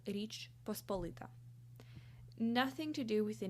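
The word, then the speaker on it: Річ Посполита: as in Ukrainian and I will say it with Ukrainian pronunciation the state is called Rich pospolita nothing to do with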